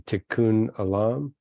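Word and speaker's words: tikkun olam: think about the concept of I think I'm pronouncing it correctly tikkun Alam yes yes can you talk a little bit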